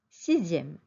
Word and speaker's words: sixième: 6, sixième. Attention, X, I, E accent grave, ME se prononce zième.